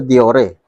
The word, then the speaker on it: Deore: O subukan naman natin sa diore.